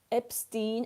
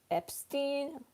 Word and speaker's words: Epstein: One is pronounced with accent and the other one is pronounced with English language. It can be read as Epstein and Epstein, but we say Epstein.